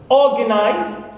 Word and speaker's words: organize: Organize, so O here is the stressed syllable.